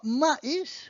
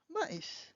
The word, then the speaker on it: maïs: So you also have M-A-I-S, pronounced mais, which is but in English, or maïs, which is corn. Maïs, which is corn.